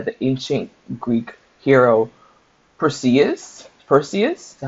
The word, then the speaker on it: Perseus: Perseus is how you say it.